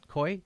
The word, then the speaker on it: Coie: Elias, that's the Clinton lawyer, and his law firm, Perkins Coie, is that how you say it? Coie?